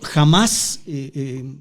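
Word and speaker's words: Hamás: hizo Andrea en efecto Jamás con acento en la en la en la segunda a es es un Movimiento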